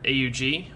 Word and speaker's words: AUG: as you can tell this is a steyr AUG or Steyr aughh for some people the correct pronunciation is actually Aug but since we're here